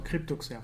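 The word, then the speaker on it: CryptoXR: salon d'ocer voilà donc crypto XR euh ouais c'est comme ça que ça se prononce crypto cryptoxer cryptoxer tu vois j'étais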